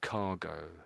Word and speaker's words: cargo: So often when there's an O on the end, you make it into an A sound. Occasionally, I guess it is an a sound occasionally, but this is one of the cases where it's go. So cargo. That's it. It's always cargo that one.